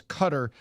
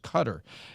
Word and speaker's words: Qatar: And by the way, when Peter Ducey says cutter, half the media saysQatar, the other half says car.